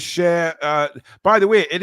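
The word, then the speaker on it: Schär: way it is Fabian share not sha Fabian share the singer because I was watching them uh I think it was on social media there some the Premier League put something out how to pronounce people's names which was very handy for me um and uh Fabian Sher came on and said Fabian share so there you go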